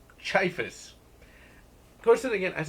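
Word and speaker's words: Ciaphas: listen to it at work, and so it's pronounced Chiphus.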